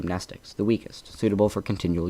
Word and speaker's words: Mnestics: Mnestics, Class W, X, Y, and Z. Same Greek root as the word mnemonic, the M is silent.